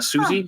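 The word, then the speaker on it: Sosie: Bacon's daughter so uh Susie Susie bacon I think is how you say it it's spelled like s-o-s-i-e hey Chris uh uh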